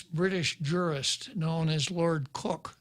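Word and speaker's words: Coke: jurist known as lord cook c-o-k-e pronounced cook was the one who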